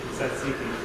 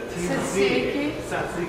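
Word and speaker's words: tzatziki: giv that signature Greek saiki taste I can't tell saiki it's a t saiki TZ saiki T saiki yes it's a sauce you'll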